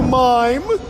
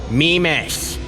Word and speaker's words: Mimas: Hello, Mimas. Mimas. My name's Mimas.